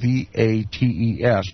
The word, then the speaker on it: Vates: Mons and Colus both mean a hill, or you'll also find the words Vates, that is V-A-T-E-S, probably more correctly pronounced Vates.